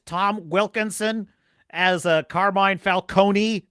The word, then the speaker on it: Falcone: Wilkinson as a carmine Falcone the correct pronunciation Falcone you've never tasted desperate